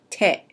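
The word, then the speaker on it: 手: When you see it on its own, it's pronounced te.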